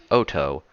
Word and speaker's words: Otto: Not Otto. It's a Japanese virus, so it's pronounced Otto.